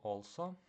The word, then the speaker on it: also: He also слово також читаємо не also тому що в англійській мові читається як all. Тому читаємо also.